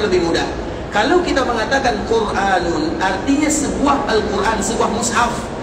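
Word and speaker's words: قرآن: Alquran Alquran ituatul Isam bacanya dua yang pertama alquranu dan bacaan yang kedua quranun tidak boleh kita mengucapkan alquranun dan tidak boleh kita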